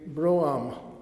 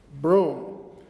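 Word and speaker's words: brougham: mate that would be Bram um which is a a light horsedrawn carriage and I said well actually we pronounce it with one syllable broom and he said well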